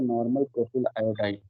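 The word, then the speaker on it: n-propyl iodide: Representing the word normal, it is pronounced as N propyl iodide or normal propyl iodide.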